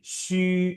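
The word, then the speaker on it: 学: tongsi, Gini, xue itu bacanya gimana ya? Xue, xu e, xu e, xu e, xu e, sure, xue, sure, xue.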